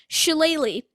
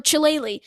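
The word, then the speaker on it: Chillelagh: you spell chile um his last name which is c-h-i-l-l-e-l-a-g-h it's ridiculous but it's a great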